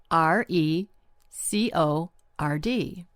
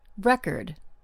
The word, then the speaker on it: record: This word is spelled r e c o r d. As a noun, we pronounce it record. As a verb, we pronounce it record. Same spelling, but different stress and different meanings.